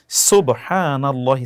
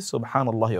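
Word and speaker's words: سبحان الله: সুবহানাল্লাহি scene এর উচ্চারণটি শুদ্ধ যেন হয়।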